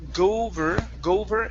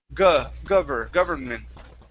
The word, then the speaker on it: government: Instead of gover, it's government.